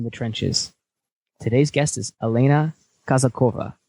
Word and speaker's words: Elena Kazakova: broadcast of in the trenches today's guest is Elena kazakova how did I did I pronounce that word correct okay perfectly just so